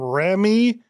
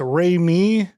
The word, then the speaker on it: Raimi: I was used to call him Ramy. Ramy and then somebody said I think it's Remy. Remy.